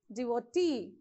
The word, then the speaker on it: devotee: How do you pronounce? Employee, devotee, addressee.